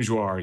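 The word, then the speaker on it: Joire: Even in Gadget Review, Miriam, is it Jouar? How do you pronounce Miriam's last name? Miriam Jouar, yes.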